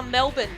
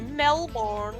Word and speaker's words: Melbourne: Americans say it Glasgow. Glasgow. Well, it's like Melbourne. The amount of Americans that go Melbourne.